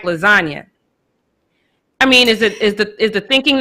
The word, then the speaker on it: lasagna: you think about it, if you pronounce the G in lasagna, it would be lasagna, but that's not how you say it. It's lasagna. So it's a silent G.